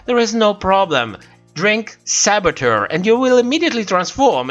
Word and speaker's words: saboteur: You know, with the French pronunciation, Saboteur.